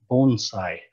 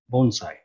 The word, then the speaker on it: bonsai: a very sheltered area bonsai is pronounced bone as in give a dog a bone and sigh as what you might